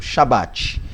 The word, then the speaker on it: Shabat: ver o braco shabat então pronúncia tranquilo shabat ou chá-bar ok significado então qual